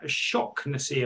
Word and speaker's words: Shaughnessy: Christian Sadie, Connor Shocknessy, apparently is how it's pronounced. Shock. Oh, really? Apparently. Okay. I'd say Shaughnessy personally, but Ben Stevenson, Jack Sparks, Will Norris, and Gavin White.